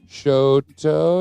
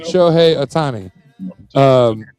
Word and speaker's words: Shohei Ohtani: So essentially, and this is, can you pronounce his name for me, that the LA picked up last year? Shoto, is that right? Shohei Ohtani. Shohei Ohtani.